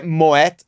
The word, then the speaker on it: Moët: é moétt e chandon porque tem é trema noê né e moets é um sobrenome é um nome próprio então você não altera a pronúncia de um nome próprio e ele é de origem holandesa Então você tem essa trema do Mote mod e chandon tá 99% das pessoas falam motion não porque associa ao